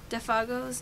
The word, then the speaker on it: Defago: Defago's name. Defago. Oh, Defago. That's how you say it.